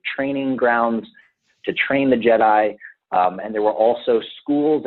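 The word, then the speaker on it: Djed: And it comes from the root word Jed, and Jed is spelled D-J-E-D.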